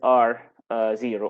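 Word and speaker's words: R0: the basic reproduction number which is R 0 or some people pronounce it as our note so this is the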